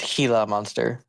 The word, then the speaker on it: Gila monster: Uh there's a good chance you guys have been pronouncing that lizard's name wrong. It's Hila Monster.